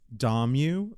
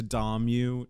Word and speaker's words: Dommu: do you pronounce it it's Dom you like I'm going to Dom you tonight because you didn't know